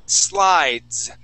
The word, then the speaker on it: slides: right and here okay we have another silent E okay this word is slides slides good good nice